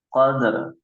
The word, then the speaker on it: قدر: Sedikit koreksi Kak, di bacaan setiap yang ada akhirannya roh, ya. Maka dia harus jelas rohnya, harus terbaca oleh kita. Seperti fi lailatul qadr, qadr, wa ma adraka ma lailatul qadr. Rohnya harus ada.